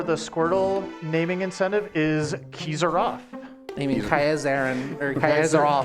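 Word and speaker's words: Kiezeroff: Looks like the winner for the Squirtle naming incentive is Kizaroff. I mean Kaizarin or Kaizaroff. Kaizaroff.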